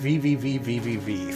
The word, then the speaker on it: VVVVVV: shortly after you start it's pronounced vvvvvv thank you also known as the letter V six times also known as that